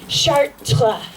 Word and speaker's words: Chartres: So he goes, no, Hannah, it's not pronounced Chartres, it's pronounced Chartres.